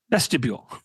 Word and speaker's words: vestibule: I was like in the church vestibule. How do you say that? Vestibule. Vestibule. Like a mule. Vestibule.